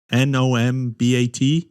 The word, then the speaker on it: numbat: Numbat is how you say it, Neil? Nombat? Yeah, numbat. Numbat.